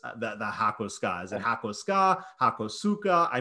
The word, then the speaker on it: Hakosuka: Hako, square, ska, is an abbreviation of skyline. So a square body skyline becomes a Hakosuka. And yes, that's how it's pronounced, Hakosuka.